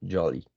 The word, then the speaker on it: jolly: O sea, es como, eh, me dicen jacket, pero luego me dicen holly, entonces como que, o sea, no. Si utilizas la J en jacket como una Y, para holly es lo mismo, vas a decir jolly.